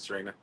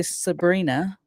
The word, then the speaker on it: Serena: so apologies for that, Serena. That's okay. I get that a lot. At least you're saying it right. I will remember going forward. Yeah, most people say Sabrina.